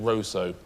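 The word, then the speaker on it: Roseau: They actually pronounce it roso, but it's spelled rouso or roso. But roso.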